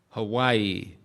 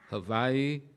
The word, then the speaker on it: Hawaii: in the American paradise that we all call Hawaii, even though I've now been told that's the wrong pronunciation. Hawaii, not bad.